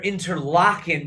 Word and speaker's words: Interlaken: not, you know, you don't necessarily hear interlockan because it's being pronounced lockin, you're not necessarily thinking like Exactly.